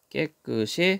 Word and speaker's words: 깨끗이: 나쁜 단계로 외출 뒤에는 깨끗이 자이 뜻이 없는 말입니다 그러니까 옷을 받침 시 옷을 뒤로 넘겨서 읽으면 되죠 깨끗이 씻으셔야겠습니다 충청과 남부 지방에서는